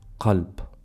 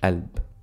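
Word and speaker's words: قلب: but then we have Kalb which means heart Culp or in spoken we don't need to pronounce the half we say ALB so kelp or ALB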